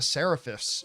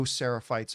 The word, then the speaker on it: Seraphites: Not the Seraphists, or what were The they?